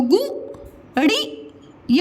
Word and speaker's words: गुड़िया: इसके उच्चारण में समय कम लग रहा है ना, और आप प्रोनाउंसिएशन कैसे